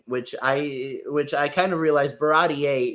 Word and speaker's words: Baratie: are just talking in Baratier, which I kind of realized Baratier is the correct way to pronounce it. I always called it Barati up until now.